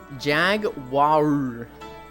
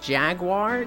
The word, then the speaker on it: Jaguar: Jaguar oh my God jagar what the hi Kumi you're saying it wrong it's Jaguar there's no W Jaguar ooo shut up